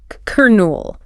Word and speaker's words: colonel: It looks like colon maybe. Yeah, but the pronunciation is she n l kernel. Kernel. Exactly like kernel as in a popcorn kernel.